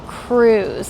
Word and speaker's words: krewes: This is also an area where there are a lot of krewes. That's spelled Krewes, and they're pretty much like grown-up fraternities and sororities where everyone is in their crew.